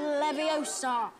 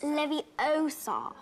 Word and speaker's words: Leviosa: Wingardium Leviosa. Stop. You're going to take someone's eye out. Besides, you're saying it wrong. It's LeviOsa, not LeviOsa.